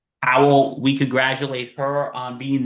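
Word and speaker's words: Pawol: Powell.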